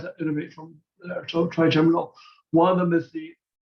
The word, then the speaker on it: trigeminal: Trigami. I don't know how to say it. Okay. Trigeminal.